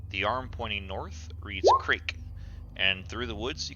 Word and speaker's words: Krezk: Is it Krezk? Is that how you say it? The Z is silent. Krezk. Krezk.